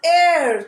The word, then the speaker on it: heir: man and are an heir to the throne an honorable man so we use and for these words because here you see h is not pronounced it is silent h is silent here okay now next exception